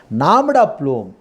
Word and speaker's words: nom de plume: We should pronounce nom de plume. E is a silence.